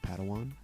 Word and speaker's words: Padawan: a pad one to this bold jedi it's pronounced padawan oh padawan excuse me hey it's getting late